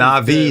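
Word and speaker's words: NAVI: It's a complete team wipe from Na'Vi just off of Na'Vi.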